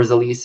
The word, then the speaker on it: Zelis: So then my particular company that I represent is Zelis, or Zelis is actually how it's pronounced.